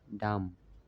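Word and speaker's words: damn: ডাম, DAM, লাস্টে একটা এন আছে, এটা উচ্চারণ হয় না, ডাম।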